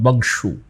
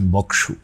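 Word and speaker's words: বঙ্ক্ষু: রঘুর দিগ্বিজয় কল্পে এই বঙ্খু নদীর উল্লেখ করেছেন, সংযুক্ত ক, বংশু এই উচ্চারণ করা উচিত। আমার মাস্টারমশাই বলেছেন বক্সু।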